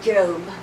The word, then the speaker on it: Job: I always keep that bookmark on the book of Job. Job, spelled like job, J-O-B.